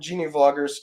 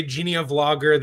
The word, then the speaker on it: Geneavlogger: Gia vlogger who uh actually you pronounce it Genie vlogger yeah I pronounce it Genie vlogger some people say Genia vlogger the idea was genealogy vlogger combin words but I just can't